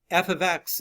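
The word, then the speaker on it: f(x): is a function um f ofx or F parentheses x you read it like that you say f ofx right that's how you say it it's not F time x it's F ofx you cannot split the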